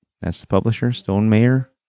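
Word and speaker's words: Stonemaier: right that's the publisher Stone mayor I always want to say Stone Meyer but it's Stone mayor isn't it everybody says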